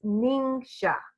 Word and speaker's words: NingXia: with this even today so this is kind of phonetically uh sounding it out it's ningxia ningxia red some people say ningxia